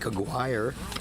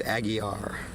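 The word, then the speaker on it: Aguirre: Looks like Auire, like Mark Auire, the old bad boy Detroit piston, but it's not. It is Aggie R.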